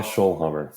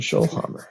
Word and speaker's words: Schoellhammer: you don't mind yeah schollhammer it's like Dr scholes at a hammer you're good perfect Dr schol Hammer excellent what's a great